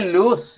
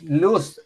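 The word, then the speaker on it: loose: Suelta se dice luz, luz, L-O-O-L-O-O-S-E, luz.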